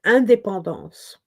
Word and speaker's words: indépendance: So I couldn't say Independence Day at all, because in French you say indépendance. In English, independence.